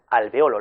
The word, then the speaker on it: alvéolo: sílaba abierta, por tanto el acento recae en la antepenúltima sílaba, por eso acentuamos alvéolo, la E con tilde, pero podemos emplearla sin acento.